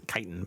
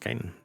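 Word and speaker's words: chitin: growing that or producing chiton or kitan. Chitten. It's kitan. But anyway, um at least as far as I know, it's always been pronounced kiten.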